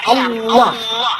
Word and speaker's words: Allah: aja tersinggung gitu ya kayak begitu ringan Git bacanya itu ringan tapi kalau mereka itu terpengaruh dengan bahasa Arab jadi enggak ringan Allah nah gitu nah dengan pengetahuan itu kita ngerti